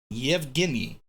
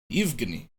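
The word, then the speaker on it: Евгений: Evgeny? How do you say it? Evgeny. In Russian. Let's actually hear what it sounds like, eh? Yevgeny. Oh, so, no, yeah, so right.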